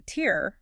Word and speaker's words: tear: You can shed a tear like crying because your shorts got a tear like a rip in them.